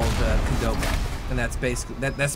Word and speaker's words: Qdoba: It's we have something very similar in Canada to Chipotle called Qdoba, and that's basically that's spelled Q-D-O-B-A.